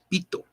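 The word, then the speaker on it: Pytho: El nombre original del oráculo era Pito, se escribe con TH, con Y, Pito, griega, claro, porque sus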